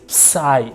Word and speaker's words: psi: So, you read this as psi psi psi p s i.